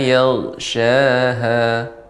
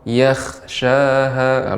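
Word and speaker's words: يغشاها: Wal laili idza yaghshaha. Wal laili iza yaghshaha. Ya, tapi jangan sampai ghain ketika sukun jadi huruf kha. Yakhshaha. Jadi berbeda nanti artinya.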